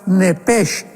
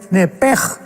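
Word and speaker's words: נֶפֶשׁ: Pero la palabra hebrea es muy importante porque es la palabra nepesh con sh al final. Nep. En el hebreo se pronuncia eh la sh con j. Entonces la pronunciación hebrea es nepej.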